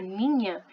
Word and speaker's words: Niña: outro fenômeno climático, La Niña. Ninho, ninha, menino e menina se escrevem com a letra N, que tem som de NH, ok?